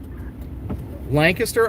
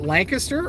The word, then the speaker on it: Lancaster: Now, do you guys pronounce it Lancaster or Lancaster? I know there's pronunciation differences depending on where you go. In PA, a lot of people, you know, it's both. People will say both, but Lancaster is what a lot of people say.